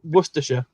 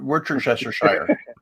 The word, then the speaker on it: Worcestershire: something that i put in chat and it's pronounced um it's words yes worcestershire worcestershire yeah not we're chester worcestershire sauce for sure yeah someone tried to